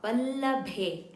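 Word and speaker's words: वल्लभे: Stress the bha. Vallabhe.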